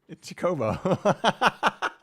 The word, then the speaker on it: Chocobo: It's Chocobo. It's pronounced Chocobo.